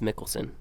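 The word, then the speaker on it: Mikkelsen: same kind of tier of actors uh mads mickelson or michaelson mickelson nicholson mads michaelson cool i said it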